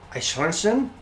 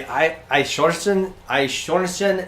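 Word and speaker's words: Eichhörnchen: Oh, the EI in is pronounced like I. I clip it just because you told me not to. Yeah, fair enough. something like Eichhornchen?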